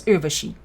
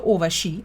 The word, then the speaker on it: Urvashi: My name is Urvashi. When you contort my name to Urvashi, it sounds racist.